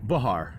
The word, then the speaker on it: Behar: Behar, technically. Behar. But I've heard it pronounced differently from other people, too.